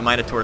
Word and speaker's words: Minotaur: lot of damage and some people ask why I say minur versus minur cuz I know a lot of Americans say Minotaur I'm just saying it because I think they're based off like uh wasn't it like King Minos and his Labyrinth and all that stuff so that's why I've been saying minor